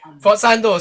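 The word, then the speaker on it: sforzando: Okay, forzando. So the S is kind of silent.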